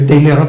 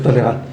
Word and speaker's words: Talleyrand: Se escribe Talleyrand, pero se pronuncia Talleyrand.